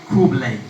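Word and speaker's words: Khublei: They say Kublai. Kublai. Kublai. Kublai. Kublai. Kublai. Kublai. Kublai. Say your neighbors, at least 2-3 people. Kublai.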